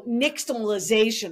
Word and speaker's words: nixtamalization: It's an ash corn or a nixtamalized corn, as opposed I was going to ask you how to pronounce that. Right. So nixtamalization or nixtamalizing means you're using ash to boil